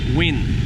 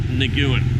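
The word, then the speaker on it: Nguyễn: ng u ye in think of like win like wi n win that's how you pronounce it it's not Nagila its win but you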